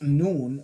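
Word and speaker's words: Nun: pronounced noon means fish the correspondences again appear to follow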